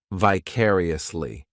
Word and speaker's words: vicariously: This adverb has five syllables and the stress is on that second syllable, vicariously. The third syllable, it's like that letter I, just has that e sound. And the fourth syllable has the schwah.